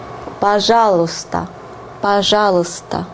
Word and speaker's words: пожалуйста: Пожалуйста, пожалуйста. And pay attention to the pronunciation. It differs a lot from the way it is written. Пожалуйста, пожалуйста. You hear a more neutral sound here.